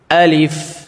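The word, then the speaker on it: ألف: আলিফ যখন উচ্চারণ করব তখন আমাদের মুখ দিয়ে কিন্তু একটি বাতাস একটু বাতাস বের হবে। ঠিক আছে? আলিফটা যখন আমরা উচ্চারণ করব তখন কিন্তু আমাদের মুখ দিয়ে একটু বাতাস বের করতে হবে। যেমন আলিফ এবং তাড়াতাড়ি পড়তে হবে স্পষ্ট করে। কোন টান দেওয়া যাবে না।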